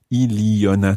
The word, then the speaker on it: il y en a: But when we say il y en a, you sound the N again.